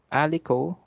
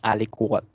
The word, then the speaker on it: aliquot: Una sinabi, 50 ml of alico. Alico basa dyan, hindi yan aliquot. Alico. Ganito pronunciation, alico.